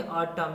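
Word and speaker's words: autumn: पहले एम आया हो तो एन का उच्चारण नहीं होगा ठीक है एग्जांपल समझिए जैसे आखिरी अक्षर यानी लास्ट लेटर क्या है एन है उसके पहले क्या है एम है तो यहां एन का उच्चारण नहीं होगा उसको क्या बोलेंगे अटम यानी पत जो सीजन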